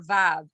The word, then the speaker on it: vav: The vav usually is pronounced like an English V, but sometimes it is pronounced oo.